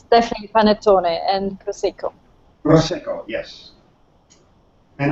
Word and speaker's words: panettone: Daniela can tell that, pronounce that better than I do. Maybe you explain, Daniela. It's definitely panettone and prosecco.